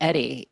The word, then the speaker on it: Eddie: No, it's funny because officially it is Eddie. That's the correct pronunciation. I think Eddie is a him, but Ray and I both call him Edie, right?